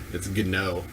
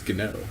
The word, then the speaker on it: Gnog: One of the G's is silent, so it's Gnog. Yeah, I didn't tell you which G was silent. Actually, you said it was Gnog. No, it's Gnog.